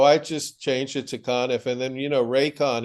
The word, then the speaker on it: Conniff: yes yeah so I just changed it to conif and then you know rayon if set the